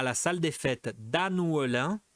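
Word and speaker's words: Annœullin: Donc A, Nathalie et Guillaume se marient à la salle des fêtes d'Annouelin. Difficile ça à prononcer. C'est prononcé Dannouelin. Dannouelin.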